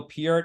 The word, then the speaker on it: Peart: late great Neil part which I still pronounce his name part I know everyone says because like about 20 years ago I didn't Getty Lee in concert started to say on drums Neil Peart and then suddenly everyone